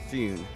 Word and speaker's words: Fune: Fune means, originally Japanese pronunciation Fune. It means a small ship in Japanese, but we just changed it to a Fune.